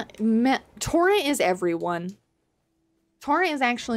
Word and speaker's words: Torrent: to play a mage it's pronounced M torrent The M is invisible torrent torrent torrent arise now